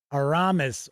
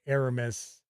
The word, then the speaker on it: Aramis: My 2 sons' names are D'Artagnan and Aramis, or Aramis, depending on how you want to pronounce it.